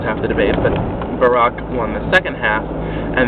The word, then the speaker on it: Barack: Clinton and Barack Obama Barack that's perhaps more proper Barack is his name not bar who can say how